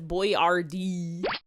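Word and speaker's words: Boyardee: No one knew how to pronounce it, so he wrote it out as boy RD.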